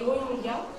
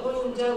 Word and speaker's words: Rohingya: Aujourd'hui on va parler des Rohingyas, qu'on appelle Rohingyas aussi, ça dépend des prononciations.